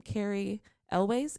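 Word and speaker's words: Cary Elwes: like um i can't say his last name carrie elways is that how it's pronounced because i always make it more complicated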